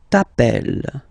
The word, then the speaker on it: t'appelles: Okay, remember, final s not pronounced. Tu t'appelles.